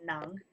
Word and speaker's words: nang: Uh, this one I always get wrong, but I can see here it's nang.